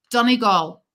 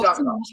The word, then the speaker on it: Donegal: Let's say it right. Let's say and a Letterkenny is how do you say it? Donegal. That's how you say, but I'm saying how up north, like Pennsylvania. Say it's Donegal.